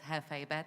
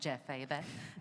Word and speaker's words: JefeBet: So for everyone here, it's JefeBet, not JefeBet. Clearly, my Spanish skills are not coming through here.